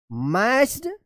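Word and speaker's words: matched: सी के lock that मैच्ड इट देखिए यहां पे मैच में इडी लग गया है। एम ए टी सी एच यहां पे टी साइलेंट रहेगा।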